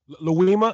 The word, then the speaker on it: Louima: Abdul Louima, if I'm pronouncing it correctly. Yeah, you're right, Louima.